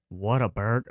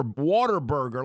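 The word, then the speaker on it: Whataburger: Like you got to have the emphasis or it's not authentic. Well, I it's called what a burger. Well, I guess the correct pronunciation because if you say it your way, you know what ends up it being called? Water water burger like you're eating in some swimming pool or something.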